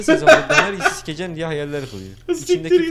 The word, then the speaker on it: Daenerys: Daenerys diye okunuyor kralım.